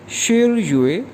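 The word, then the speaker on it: 十月: और अक्टूबर 10वां महीना है, तो अक्टूबर को चाइनीज़ में कहेंगे शिर युए। शिर हमने पढ़ा था 10 के लिए, तो 10वां महीना ये प्रोनाउंस किया जाएगा शिर युए।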